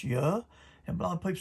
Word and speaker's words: Yah: It's an I, and that I makes that Y sound like it does in heaven. The A is silent. When you got two vowels together, when two vowels go walking, the first one does the talking. The A is silent. We know this. We know this is a Greek New Testament, and the I in the IAH is Y. Isaiah, Jeremiah, and so forth. His name is Yah.